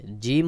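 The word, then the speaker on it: جيم: কিন্তু তিন রকম রয়েছে জিম হলো জিহ্বার মাঝখান থেকে একটু চাপ দিয়ে শক্ত করে উচ্চারণ হবে যেমন জিম জিম জিম তারপরে হা উচ্চারণের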